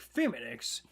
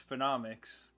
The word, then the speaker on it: Phenomix: I mean, trust me, nobody pronounces my channel name right. Like, nobody's like phenomics. like they're like feminics and or they'll just say they don't know how to pronounce my name and yeah, but in my mind it's like oh it's the word phenom and then so it's phenomics.